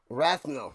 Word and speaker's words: Rathnell: No, okay, I said it wrong. Unless they... Rathnell, okay. Rathnell, number 33.